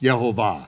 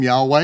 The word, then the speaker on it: Jehovah: no question about it according to the the the hebrews it is to be now pronounced jehovah right now yeah according to